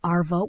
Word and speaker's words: arvo: And think of it as just shortening afternoon and swapping the end for a quick vo.